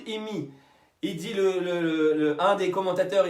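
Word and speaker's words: אמי: colère contre moi », ma mère en hébreu se dit « imi ». Ça s'écrit « Aleph mem yud ». Aleph mem yud imi.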